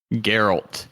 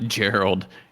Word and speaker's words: Geralt: Geralt is what he says. So we're both wrong. Not Gerald.